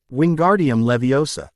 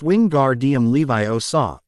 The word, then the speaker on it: Wingardium Leviosa: Wingardium Leviosa. He was always shouting, waving his long arms like a windmill. You're saying it wrong. Hermione snapped. It's Winguardium Levi Osa. Make the gar nice and long.